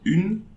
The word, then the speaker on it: une: Okay, we are not pronouncing this E, but you are pronouncing the N before. Une.